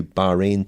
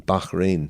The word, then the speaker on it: Bahrain: on the the new Bahrain team Bahrain sorry to give it the proper pronunciation before we have the